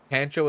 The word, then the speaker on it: Pancho: Pancho is pronounced with a ah, like Pancho Villa.